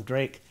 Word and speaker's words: Drake: Actually, I had pronounced it Draxa, but his descendants took the name Drake, so I'll just call him Drake.